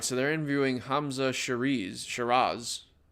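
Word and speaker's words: Hamzah Sheeraz: Hamza Shiraz, that's how you pronounce it.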